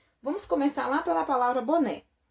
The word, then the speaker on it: boné: começar lá pela palavra boné e a palavra boné a sílaba tônica na última sílaba na última sílaba então